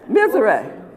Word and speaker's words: Mizerak: want to make sure I'm getting his name pronounced correctly. Antone Mizerak. Mizerak. How about that? Just a little off there. Mizerak.